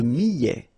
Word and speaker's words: millet: Le millet, here, I, and then double L, so I, millet. ET at the end, open, millet. L'orge, le quinoa, le son.